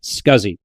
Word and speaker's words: SCSI: The contemporary to IDE was the small computer system interface or SCSI which was virtually always pronounced SCSI.